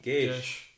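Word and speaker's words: geis: do you pronounce that gage is that how you pronounce it i think so yeah yeah i always pronounced it for some reason no i think the se is an sh sound yeah as far as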